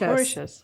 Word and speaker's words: Mauritius: I was looking at I don't know how to say it but it's m-a-u-r-i-t-a-u-s oh Mauritius Mauritius yeah yeah there you go um I know how